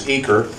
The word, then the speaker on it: Uecker: Okay, those of you who are from the greater Cincinnati area might know that we pronounce it on this side of the Mississippi as Uecker, but there is a